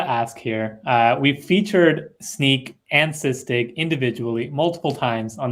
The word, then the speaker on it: Snyk: to make real quick the way I remember how to pronounce sneak I figure hey if you're sneaking around they're gonna catch you all right so that's that's how I think about it anyway that's a sneaky